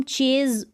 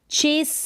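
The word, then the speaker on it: chase: यहाँ पर इसको हम चेज बोलते हैं तो गलत है, ठीक है। ये जो स्पेलिंग्स है ये रूल को फॉलो नहीं करती, इसको हम चेस स यानी स साउंड देंगे एस के लिए, यहाँ पर ज साउंड नहीं आएगा।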